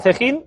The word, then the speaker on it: Cejín: Y juegas 2 en Cejín y... espero pronunciarlo bien, ¿eh? Cejín, sí, lo estás diciendo bien.